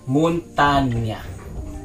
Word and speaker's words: Montagne: So we have here a Montagne, but as we search, this is pronounced as Montagne. It's a French word. That means mountain.